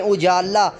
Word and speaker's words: اجالا: تلفظ کے ساتھ پڑھیں۔ اجالا، الف پر پیش، جیم پر زبر، الف جزم، لام پر زبر اور الف پھر جزم۔ حیوان، ہے پر زبر،